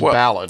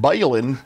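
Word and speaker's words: balun: I got my balin. Clarify that. Do do you know the correct pronunciation? It is balon, right? Well, it is a contraction of balanced to unbalanced. So, bal unbalanc. So, it's not balin.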